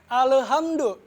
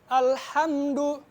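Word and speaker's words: الحمد: Nah, di ayat kedua masih banyak imam yang salah atau para qori yang salah dalam bacaan alhamdu. Biasanya bacanya gini, alhamdu. Nah, ingat, lam ini bukan masuk ke dalam qalqalah. Qalqalah itu cuma ada ba, jim, dal, tokof atau biasa kita sebut dengan baju di toko. Nah, masih banyak yang salah bacanya alhamdu. Nah, yang benar itu alhamdu. Biasa, nggak ada pantulan.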